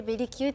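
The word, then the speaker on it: ベリキュー: か今度そうですベリーズ工房かけるキュートっていう表記でベリキューって読むんですけどえ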